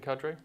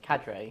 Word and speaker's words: cadre: Mike uh the retaliation Cadre Cadre right Jake Cadre kadre right it's not it's CER right a CER yeah it's